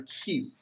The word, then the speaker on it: queue: about is called a q that spelled Q u e u e q so it's basically pronounced like the letter Q okay so what a